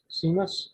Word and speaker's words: Seamus: And I wonder, I guess it's a question for you, Seamus, is that how you pronounce it? Just like shameless, but without the L is the best way to.